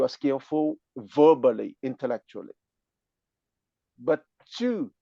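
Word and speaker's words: 智: But Chu pronounced at the fourth tone, which is wisdom, you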